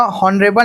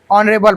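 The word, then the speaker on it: honourable: हाँ हाँ, ओला हॉनरेबल नहीं पढ़ाना मन हा, ठीक है। एच साइलेंट रहते ऑनरेबल पर्सन, लेकिन बोल चाल के भाषा में हमारा ऑनरेबल जरूर बोल देते है नहीं।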